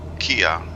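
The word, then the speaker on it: Kea: Kia, like the name of the very popular department store, K-E-A, and Agios, which is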